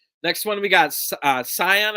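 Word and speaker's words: Cyon: one we got uh scion i think it's it's how you pronounce it c-y-o-n and this is the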